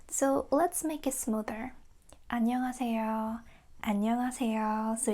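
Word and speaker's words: 안녕하세요: And if you just speak this one letter, it's correct to say ha, but native speakers don't say this. We say a. Mhm? Because listen carefully, we don't say annyeonghaseyo, we say annyeonghaseyo. So it's more like a a, not ha.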